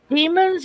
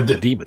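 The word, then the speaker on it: Dæmons: Doing was it the demons or demon? How do you say it? The Demons. It's the demons. Yeah, Demons. it's just an odd way of spelling it, but it is the demons.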